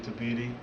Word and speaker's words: Tabiti: Zach Cooper here with upcoming boxing star Andrew Tabiti. That's how you pronounce it, right?